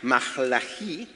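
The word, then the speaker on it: מלאכי: Entonces, Malaquías, el libro de Malaquías, que de paso significa mi mensajero, en hebreo se pronuncia Mahlají, vivió y ministró bajo el dominio persa entre los años 430 al 420 a.C.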